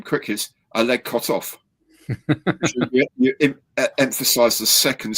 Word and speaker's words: Kotov: yeah you say his name Quick is Al cut off you emphasize the second C of his so cut off rather than kotov says I just couldn't call him that couldn't